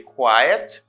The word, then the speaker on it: quiet: can get confused now you're learning how to pronounce them and i'm sure you say you know now you say quiet and this you say quite all right you